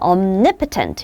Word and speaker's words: omnipotent: 발음을 할 때 보세요. omnipresent는 omni 앞에 가고 액센트가 그 다음에 omniscient 이건 omniscient 이렇게 말하고 이건 omnipotent 이렇게 말해요. 웃겨.